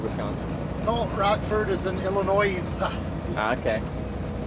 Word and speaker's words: Illinois: Is that how you just You dropped the S, right? In Illinois. It's dropped everywhere. Yeah. But I refuse to do it. I don't like him, so I'm not going to say it right. Goddamn right. It's a French word. Um, they didn't want the They're not going to say the S.